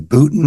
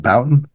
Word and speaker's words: Bouton: botin or mik cish for the correct right pronation call Jim botin not Bouton Bouton botin okay like so everybody